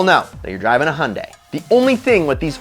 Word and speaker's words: Hyundai: hyundai sonata yes a hyundai it rhymes with sunday which is a really